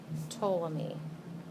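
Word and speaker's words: Ptolemy: me call this to the p is silent okay so this is toam me you don't pronounce the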